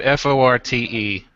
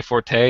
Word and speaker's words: forte: Like, there's pronunciation ones like the word forte, as in a strength that you have, right? It's not my forte.